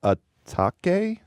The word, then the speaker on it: Atake: It's called Eternal Atake. Atake. You have Fact check me on that, Ian. You know how this is pronounced? A take.